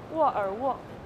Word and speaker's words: 沃尔沃: 沃尔沃.